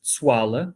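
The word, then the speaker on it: Tsoala: This monotypic genus, Tsuala, as it's pronounced in Malagasy, Tsuala tubiflora, which is a small shrub that presents these remarkable tubular flowers.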